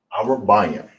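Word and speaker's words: ארבעים: English and Hebrew for 40 is Arabayim. All right. Arabayim. Arabayim. That's how you say 40.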